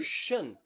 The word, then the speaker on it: ocean: What do we do when the letter C is followed by 2 vowel letters? We pronounce it as a sh. Ocean.